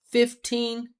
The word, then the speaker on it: fifteen: Listen, 15. I can say 15 or 15. 15 or 15. But teen is always always always standing out.